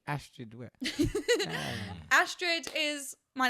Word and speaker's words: Astrid: Whenever I say my name's Astrid, everyone's like, "Astrid?" I'm like, "It's like asteroid, but Astrid."